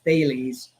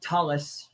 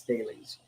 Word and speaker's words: Thales: of some people in europe call it talus which i think is cool thomas sounds like talon uh but most people understand it's thales you can google him